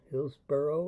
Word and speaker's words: Hillsboro: Hillsboro and Hillsboro. Pronounced the same.